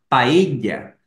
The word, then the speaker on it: paella: quieran, y se llama paella. Quizás no hayan escuchado este nombre con esta pronunciación, quizás paella o paella, pero es lo mismo.